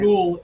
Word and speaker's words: capicola: Gabagool is how Southern Italians pronounce capicola on the East Coast.